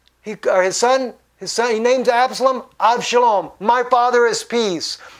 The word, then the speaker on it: Absalom: Absalom is how you say it in English. Avshalom is how you say it in Hebrew, his name, which means my father is peace.